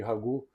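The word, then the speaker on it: ragoût: caracteriza o Ragu a palavra francesa vem de ragu e se escreve r a g o u t né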